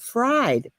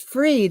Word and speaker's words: Fried: because my last name is spelled Fried, but it is pronounced Freed, and I'd rather be freed than fried, and you would too, wouldn't you?